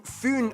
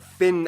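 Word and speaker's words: Fyn: taken it is connected to foon island not fin island by the great belt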